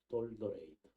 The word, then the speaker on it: Dordrecht: 1618년 11월 13일부터 1619년 5월 29일까지 있었던 돌트레이트 이렇게 해야 되거든요. 돌트레이트. 뭐 영어로 발음해서 이제 도르트 뭐 이러는데 돌더레이트. 지금도 그 이름이 돌더레이트예요.